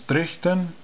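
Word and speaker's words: dryhten: Dryden Gator, Draken, Sherian, Dryden, the king, that's more commonly pronounced as Drichten, Gator, person of the gates, the gate of people.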